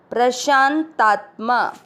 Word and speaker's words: प्रशांतात्मा: पहला चरण प्र का अर्थ हुआ प आधा और र पूरा। PRA शा के साथ आधा न प्रशांत, ता के साथ आधा तत्तात्मा प्रशांतात्मा। वी ग और त दोनों